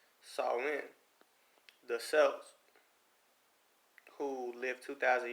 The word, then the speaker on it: Samhain: Halloween's origins date back to ancient Celtic festivals of Samhain, pronounced Samhain.